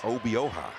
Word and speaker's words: Obioha: Obioha. I have learned the proper pronunciation.